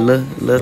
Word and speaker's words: Luh: Cause like, on said like Lil Tyler, I'd be like Lil Tyler, L-U-H, Lil.